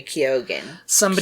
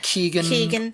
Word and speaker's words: Keoghan: Because she wrote it about her ex-boyfriend, Barry Keoghan. Keoghan? Is that how we pronounce it? Keegan. Cogan.